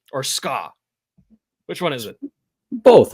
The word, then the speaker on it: SKA: Is it SKA or SKA? Which one is it? Both, I think. Okay. Well, it's a stupid name regardless, but nonetheless. Like it's SKA, but SKA's one syllable, right?